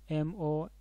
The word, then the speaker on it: monarch: s the word monarch m-o-n-a-r-c-h monarch here the pronunciation of c h is like the car sound therefore we need to